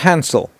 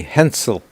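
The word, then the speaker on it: Hänsel: try pronouncing the names because that's not Hansel that is German and a a uml has a different pronunciation it would be Hensel hinel and grle I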